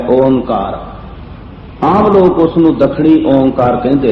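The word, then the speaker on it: ਓਅੰਕਾਰ: मैनू क्षमा करना कि जिस तरह इसका असी उच्चारण करते हाँ, ये अखर सही उसे तरह लिखिया नहीं गया, लेकिन बाणी की खोज ते विद्वानां के मत अनुसार इसका उच्चारण जिहड़ा है ओंकार किया जाता है।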